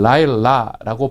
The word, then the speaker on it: 들릴라: 들릴라라는 말은 우리말로는 이제 릴라라고 되어 있는 이 부분이 사실은 라일라라고 발음을 하는 부분이거든요.